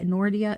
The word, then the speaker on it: Nordia: Any case, Nordita, N O R DI, Nordia, Nordia, I think is how you say her name.